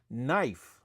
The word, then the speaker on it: knife: Why do we say that when we use the word this word here that pronounce as knife? Why is the K silent?